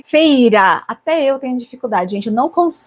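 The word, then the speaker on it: Feyre: para pronunciar o nome dica fala-se feira até eu tenho dificuldade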